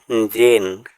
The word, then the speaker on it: gene: GENE জিন। এখানে জি এর পরে ই লেটারটি সাইলেন্ট থাকবে, এন এর পরেও ই লেটারটি সাইলেন্ট থাকবে। জি এর পরে কখনোই ই লেটারের উচ্চারণ হয় না, আবার ওয়ার্ডের শেষেও ই লেটার উচ্চারণ হয় না।